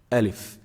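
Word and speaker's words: ألف: one the first letter alif alif is pronounced from the empty space of the mouth and the throat so there's nothing specific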